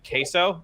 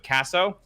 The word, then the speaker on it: Caso: It's because people mispronounce my last name Caso instead of Caso.